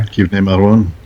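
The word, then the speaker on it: כבני מרון: Kivnei Maron. That's right. Okay, you're right about that. Yes, I was corrected. But there's a rebuttal to this correction I'm giving.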